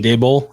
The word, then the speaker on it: Daboll: head coaching job, but pretty much and Brian Daboll, I think that's how you pronounce it.